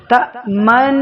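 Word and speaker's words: تأمنا: عدو علی النبی یظن لا تأمن کو پڑھنے کا طریقہ یہ لا تأمن، جو نون مشدد ہے تشدید کی وجہ سے یہ پہلے ساکن پڑھا جائے گا پھر متحرک، جس وقت حرف ساکن پڑھیں تو دونوں ہونٹوں کو گول کر لیں، تأمن، ساتھ ہی الف کے برابر غنہ کریں کیونکہ مشدد ہے اور نون مشدد میں غنہ ضروری ہے۔ جب نون کو متحرک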